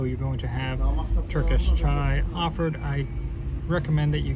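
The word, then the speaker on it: çay: So this is Turkish chai. It's tea is pronounced as chai in Turkey, and I know in America everybody thinks chai tea.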